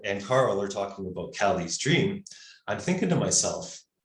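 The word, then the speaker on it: Kali: so we didn't know that we called it kaylee's dream but it's pronounced cali's dream that's right right after the divine mother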